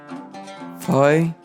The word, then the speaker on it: Phai: Et elle se prononce comme la lettre F en français. Phai comme dans Foi.